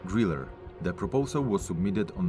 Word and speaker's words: Grille: The German word Griller means cricket, and the letter E at the end is pronounced as an R, Griller.